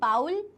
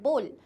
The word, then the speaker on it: bowl: अब ये जो वर्ड है इसे हम बाउल नहीं कहेंगे, इसका सही प्रोनाउंसिएशन होता है बोल। जैसे बोलते हैं ना बोल क्या हुआ, सो वही प्रोनाउंसिएशन है बोल।